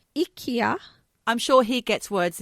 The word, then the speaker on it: IKEA: on when we were waiting to go to IKEA.